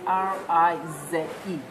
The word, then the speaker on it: Rize: So Phoenix, as in Phoenix, and Rise is Rize, so not SE.